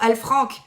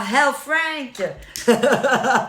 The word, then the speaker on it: El Frank: On m'appelle justement El Frank. Et pas Hell Frank. Ok. El Frank. Très français. Moi, je suis obligée. Mais oui, on le prononce effectivement à l'anglaise.